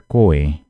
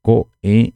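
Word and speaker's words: ko'ẽ: cortar mesmo a pronúncia Então seria co co não vão me pronunciar coen seria coem e não coen viram a diferença coem coem Então nesse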